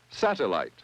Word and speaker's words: satellite: If we try the rule for pronouncing one-syllable words with two vowels, this part would probably be pronounced light. This is probably L. And this syllable is probably sounded sat. Sat, L, light.